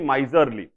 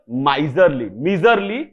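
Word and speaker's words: miserly: कहवा कमिसरेट तापर आसुचे माइजरली eigen उच्चारण चेंज कले ठीक अच्छे मिजरी मिजरेबल मिजरली कहवा नाही मिजरली टा भारी अद्भुत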